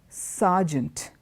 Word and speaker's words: sergeant: operation the other word is not Sergent it is sergeant okay surgeon sergeant and